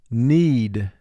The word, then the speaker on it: knead: the next word is knead knead the baker will knead the dough before placing it in the oven need three sounds need mark the word